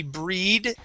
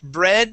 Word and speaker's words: bread: okay okay now class sometimes when we have the EA that is not a a long e sound this would not be breed deed heed it is bread Red Dead and head okay so read that